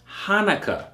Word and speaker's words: Hanukkah: 98 okay so keep that in mind it's pronounced hanukkah okay dedication hanukkah same thing it is hanukkah